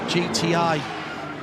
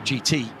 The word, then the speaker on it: GiTi: They've got past the GTI, GTI, reading it literally. GITI is the name of the tyre company, and it's pronounced GD.